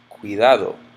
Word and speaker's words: cuidado: Cuidado or ciudad. This one ends in a vowel. I know it's the second to last. I know that this first syllable is just cui.